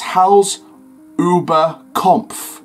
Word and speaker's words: Hals über Kopf: Then you've got head over heels in German, it's Hals über Kopf, and that's how it's pronounced, but it means head over heels.